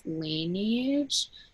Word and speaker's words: Laneige: and I have, I don't know how to pronounce it. It's Laneige.